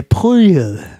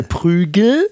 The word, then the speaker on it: Prügel: sind ja ever Girl also in Girl wird folgende Wort folgendermaßen ausgesprochen der prüel der das ist ein großer Unterschied im deutchen der Prügel ne ich habe einen